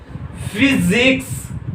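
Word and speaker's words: physics: फिजिक्स क्या आ रहा है प्रोनाउंसिएशन, फी फी। यहाँ पे कोई आई वगैरह कुछ नहीं है, लेकिन फिर भी किसी इस वाई का प्रोनाउंसिएशन क्या आ रहा है, ई आ रहा है।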